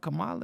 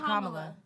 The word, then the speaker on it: Kamala: Let's talk about legacy, cause y'all was talking about Kamala and abortion.